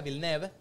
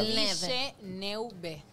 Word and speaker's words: Villeneuve: Villeneuve se dice, pronuncia Villeneuve. Se escribe Villeneuve.